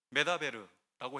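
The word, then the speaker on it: מְדַבֵּר: 그러나 광야는 히브리어로 미르바르로서 발음을 조금만 달리하면 메다베르라고 해서 말씀하다라는 뜻이 됩니다.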